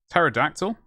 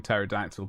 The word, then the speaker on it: pterodactyl: the honor of watching pterodactyl but it's it's really good not seen it so it's not spelt terror as in t-e-r i heard it it is spelled pterodactyl as in error it's been a while